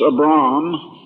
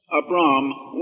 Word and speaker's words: Abram: When God called, his name originally was, I believe it should be pronounced Abram.